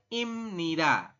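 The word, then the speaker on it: 입니다: da seperti itu ya tulisannya iida tapi dibacanya imnid Oke menurut aturan baca jika ada B di akhir bertemu dengan ni di sini di tengah maka B ini ya huruf b berubah bunyi menjadi Bunyi M maka kita bacanya Im seperti itu bisa teman-teman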